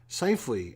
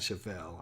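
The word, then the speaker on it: Scheifele: name is Seifley, not Schaffel. I keep calling him Schaffel because it looks like it should be pronounced Schaffel, but I think it's Seifley is the way it is.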